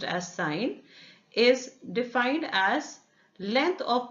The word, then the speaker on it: sin: I ne8 written as s I am still pronounced as sign is defined as length of perpendicular upon the